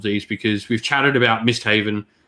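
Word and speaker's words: Misthavn: because we've chatted about missed haven uh missed harvan um as some might call it um i say miss haven now because someone pointed out in the comments i was pronouncing it wrong so now i'm going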